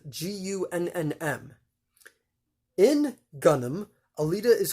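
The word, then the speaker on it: Gunnm: manga the manga in japan was known as gunnam that is spelled g-u-n-n-m in gunnam alita is called gali gunam translates i guess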